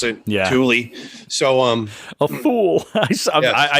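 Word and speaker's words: Thule: model tle I know people say THU it's Tuli apparently they pronounce it Tulie so um fool I I used to say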